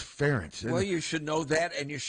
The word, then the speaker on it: Ferentz: The easy thing is it just rhymes with parents. Yes. It's not. Hello. It's nothing to do with rent. It's Ferentz.